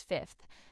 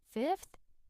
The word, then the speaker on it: fifth: me NADA it means fifth notice that the second f is silent or very soft Ronnie fifth it seems to disappear